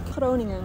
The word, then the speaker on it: Groningen: Groningen.